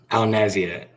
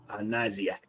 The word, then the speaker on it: Naziat: How you say it? Cody? Naziat. Naziat. Yes, sir. Your dad said it a little different. Naziat? Naziat. Yeah, well, what kind of last name is that? It's Arabic.